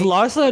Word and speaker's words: Larsa: Is Larsa not Larissa? Is Larsa? It's Larsa. Wow, I've been saying it wrong. Larsa. I've been saying that shit wrong all these years. I've been like Larissa Pippen.